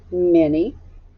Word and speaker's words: many: a review trick word mini starts with an if the m sounds like what sounds like an eye and then you have n what does the y sound like that's right it sounds like long e i'm going to go